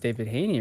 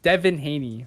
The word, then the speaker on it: Devin Haney: Oh, he would have to go against David Haney, right?